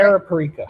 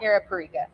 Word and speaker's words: Arapiraca: Arapiraca. Arapiraca, yeah.